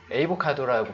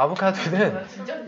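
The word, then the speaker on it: avocado: 또 에이보카도라고 발음해요? 아니요. 네. 자, 아보카도는 열대 과일이다 이거죠.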